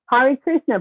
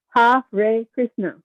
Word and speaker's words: Hare Krishna: Hare Krishna, pronounced Ha, H-A-H, Ray, R-A-Y. Ha, Ray Krishna.